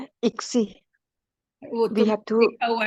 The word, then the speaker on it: ICSI: ICSI.